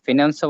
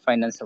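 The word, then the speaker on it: finance: ফিনান্সিয়ালও বলতে পারেন, ফাইন্যান্সিয়ালও বলতে পারেন, ফিনান্সও বলা যায়, ফাইন্যান্সও বলা যায়।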